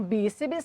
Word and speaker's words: bíceps: Então, bíceps, sílaba tônica, bi, acentuada obrigatoriamente, porque é uma paroxítona terminada em PS.